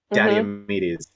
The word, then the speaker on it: Diomedes: But have you heard the proper pronunciation of it? Walk me Because through it. it I'm really ready. flows. Diomedes.